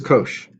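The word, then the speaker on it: cosh: it's pronounced inch and cosine hyperbolic is Kosh and then tangent hyperbolic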